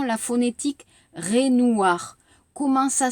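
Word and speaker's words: Raynouard: La prononciation, la phonétique, Renoir. Comment ça s'écrit?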